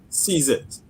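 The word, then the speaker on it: CZIT: of Trinidad and we the acronym we pronounce it sees it as in grab the opportunity so CZ it you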